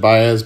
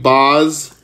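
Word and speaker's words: Baz: Bay or Shane BOS thought I thought they pronounced it Bas but Shane BOS on the Mosaic Auto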